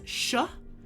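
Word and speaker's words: š: Um then you have S with a little carrot on top. That is sh.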